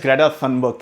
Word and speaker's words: Greta Thunberg: I had to pronounce it the Swedish way, but yes, Greta Thunberg, hello.